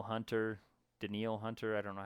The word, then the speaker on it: Danielle: up with that um Danielle Hunter denil Hunter I don't know how to say it it spelled Danielle but I think it's probably denil um in Minnesota he's